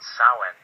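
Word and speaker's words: Samhain: 31st it was called sa yeah I know it's spelled differently than how it's pronounced what do you care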